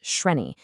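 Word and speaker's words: श्रेणी: This foundation was called Sreni, and that's pronounced Shreni.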